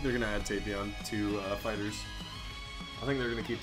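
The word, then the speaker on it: FighterZ: Oh, and the creators did come out saying that the pronunciation is Fighters, not Fighters Z.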